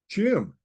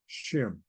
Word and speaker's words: Xim: corn and it's pronounced Chim the x is pronounced sh and in the Book of Mormon it was called shim so there may be